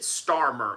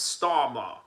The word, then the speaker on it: Starmer: of the United Notice how he pronounces it Starmer. It's Stalma. It's Star. You got to say it with uh you know a British accent.